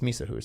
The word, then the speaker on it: Mysa: say it and I was like well it's Misa and it's cozy.